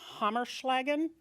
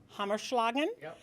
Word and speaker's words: Hamish Loggin: what else we're having Hamish laggin am i pronouncing that right I'm Hamish loggin so we had decided